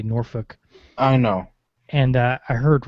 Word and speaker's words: Norfolk: Yeah, I was actually in a barracks on Norfolk, because that's how they say it there, because it's Norfolk, but they say Norfolk.